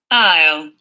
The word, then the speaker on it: aisle: I cannot pronounce this word. Aisle? Ale seat.